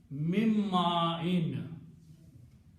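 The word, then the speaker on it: مِن مَّاءٍ: Also, meme and noon, when they come together, this noon is pronounced as a meme. Okay, so what will happen here? In pronunciation, this will become mim and this will become in. Mimma in. Okay.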